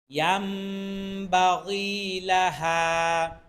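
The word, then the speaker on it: ينبغي: হোক শিখতে থাকুন হতাশ হবেন না লাশ শামসু ইয়াম বাগিলাহা ইয়াম বাগিলাহা এ হা এখানে তিন আলিফ টান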